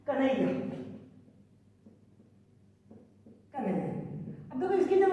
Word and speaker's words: कन्हैया: पहले आ रहा है, लेकिन आप उच्चारण करें कन्हैया तो ये जो न है ना ये ह में ही शामिल हो जा रहा है, तो इसकी मात्रा ह में आ गई।